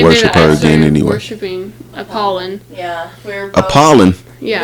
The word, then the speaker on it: Apollon: Worshiping Apollon. Yeah, we're both, Apollon. Yeah, we both worship Apollon.